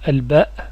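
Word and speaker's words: الباء: Attention à l'accent, on dit bien Al-ba. Surtout si après vous voulez par exemple étudier le tajwid, la lecture du Coran. Attention à la prononciation des lettres. Al-ba. On ne dit pas ba.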